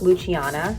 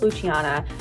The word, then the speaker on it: Luciana: have on the list luciana and my problem with luciana is it's spelled l-u-c-i-a-n-a italians pronounce the ci like a ch but i feel like